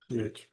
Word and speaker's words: Hoesch: Hoesch.